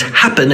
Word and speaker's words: happen: it ends with en the first syllable is strong it's happen it's not a pen and so we don't